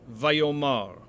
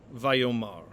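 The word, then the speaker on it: ויאמר: mar and so when the stress shifts to the ultimate syllable or the final syllable the original a returns and so we will translate this vayomar vayomar now the accent that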